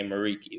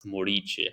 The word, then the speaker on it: Muriqi: supposed to sound because in America most people will say Miki which is fine you know you adopt them the uh American way of saying it but uh where I come from uh I'm Albanian by origin it's pronounced morici so you you hit